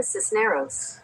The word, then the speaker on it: Cisneros: Cisneros. This is neros. Hold on. I'm have to pronounce figure out how to Sandra Cisneros. Cisneros.